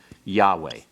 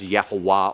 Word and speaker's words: Yahweh: with the real name, Yahweh. It has to do with this form. Your schwa here, and your holum here, and your comets here are for Adonai. Don't ever pronounce Yahweh as Yehovah or Jehovah.